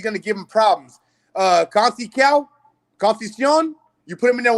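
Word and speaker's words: Conceição: Conceicao.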